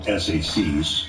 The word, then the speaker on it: SAC: office we call them sacs with each letter pronounced as opposed to assistant